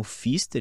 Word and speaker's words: Pfister: Meu perfil no Instagram é @Pfister, então BRENOPFISTER, né? O P é mudo.